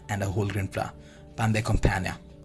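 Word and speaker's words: pain de campagne: The pronunciation of this is pan de campagna, means the country style loaf.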